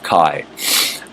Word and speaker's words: Chai: It says Chai, it's C-H-A-I, the last word, but it's Shaddai El Kai.